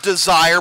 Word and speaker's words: Desir: His name is spelled Desire, but it's pronounced Desir.